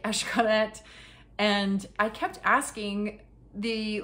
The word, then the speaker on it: Xcaret: Xcaret is spelled with an X, as you know. It's Mayan, so everything is Esh.